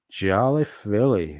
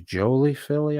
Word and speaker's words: Jolie Philly: Jolly Philly, which is Jolie Philly. I think I've been pronouncing it wrong for a while.